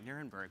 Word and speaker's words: Nirenberg: are here to I did say it right, Nirenberg.